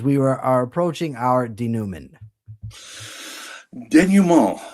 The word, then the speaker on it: denouement: Denouement. That's how to pronounce it, really? Yeah, denouement. It's from the French.